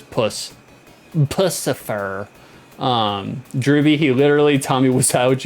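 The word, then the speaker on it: Puscifer: Stench, is it Pussifer, pronounced like Lucifer, just with a P rather than Pussifer? No, it's Pussifer, because it's more like pussy. It's more like vagina.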